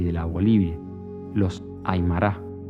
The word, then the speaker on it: Aymara: de la Bolivia, los Aymara. Los llamaba los Aymera, alargando el nombre como si su pronunciación fuera la única acertada que existiera.